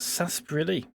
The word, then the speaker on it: sarsaparilla: First off, it's pronounced sarsaparilla.